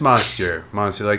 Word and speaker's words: Monstieur: Just Monstieur. Monsieur, like we're all French, but we're not.